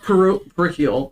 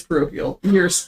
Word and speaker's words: parochial: I said parochial. It's parochial. I went to a parochial school.